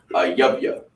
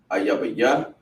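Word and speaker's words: אויב: Ayabaya, ayabya, or ayabaya. It would be the ya and the ba separate, right? Ayabaya. No, it's ayabya.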